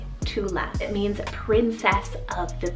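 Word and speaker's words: Tuathla: name we have the name tula spell it t-u-a-t-h-l-a tula it means princess of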